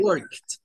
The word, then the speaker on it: worked: No, no es con la D, work, es Work. worked. Este no, pertenece a los que se suenan con T, worked.